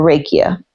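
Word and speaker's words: rakija: is called Ria or raikia uh I am not sure of the pronunciation but it is spelled r a k i j a and I believe that J makes a y sound it is a drink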